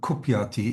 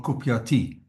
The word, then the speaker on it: kupyati: Is the short I like kupyati? Is it kupyate or kupyati? Kupyati. It's a short e.